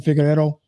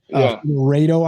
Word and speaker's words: Figueiredo: Came too strong last night against Davison Figueiredo. Figueiredo, I think is how you say his name.